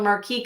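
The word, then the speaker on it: marquise: This is called a marquee cut. Marquee. Some people pronounce it with the ISE or with the, I usually don't, but personal is like tomato.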